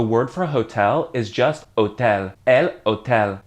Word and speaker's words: hotel: In Spanish, the word for hotel is just hotel. El hotel. Same word exactly, but said in a Spanish way. Don't forget that H is silent.